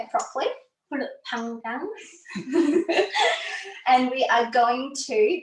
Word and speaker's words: Pulut Panggang: Pulut Panggang.